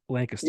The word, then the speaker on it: Lancaster: It's Yeah, Lancaster."